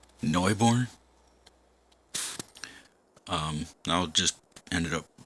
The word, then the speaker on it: Neubrunn: welcome back to Noob run or as I heard it pronounced and I hope it's correct uh Neu born um I'll just ended